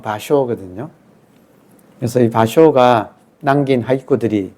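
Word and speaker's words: 芭蕉: 비속이 파초 아고 하는 파초가 일본말로 발음하면 바쇼 그든 그래서이 바쇼가 남긴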